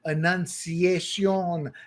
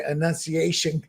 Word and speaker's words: Annunciation: It was a horrific shooting at Annunciacion is how you say it in Spanish, Annunciacion, but I'm sure Americans say Annunciation Catholic Church in Minneapolis.